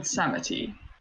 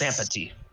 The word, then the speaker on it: Sampati: I am the Animal Lord Sampati. Lord Samity. It is Sampati.